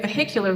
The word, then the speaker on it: vehicular: Now, the H suddenly is like, hello, I'm still here. Um, but it only gets to be there when the stress is on the second is on its syllable.